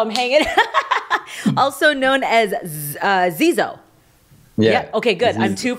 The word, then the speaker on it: Zizo: Actually, so the way you pronounce it is Zizo, but when I first met Buddy, he just changed it to Zizo, and he's refused to go back since.